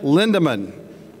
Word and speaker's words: Lindemann: NAG TAG has been around for 50 years, 25 years under the current ownership, Linda Lindemann. Above all else, did I pronounce that right, Lindemann?